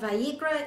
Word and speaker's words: Vayikra: there's no forgiveness for sin the uh okay vi ikra i have to think to say it right vayikra is leviticus leviticus 17 11 and i quote